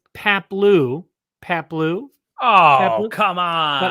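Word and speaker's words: Paploo: You said Paplo. All right. Maybe the O is pronounced O and not Oo. I don't know, but it's Paplu.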